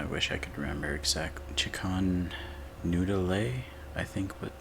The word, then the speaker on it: Che'kan: i could remember exactly chikon noodle a i think with new new dale yeah jacon new dolly that's roughly how to pronounce my chicken noodle pun but yeah jacon's not